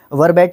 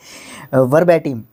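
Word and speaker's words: verbatim: originally उसको वर्ट बम वर्बेट क वर्बिट नहीं वर्ब एटम वर्ब एटम एक एडजेक्टिव वर्ड होता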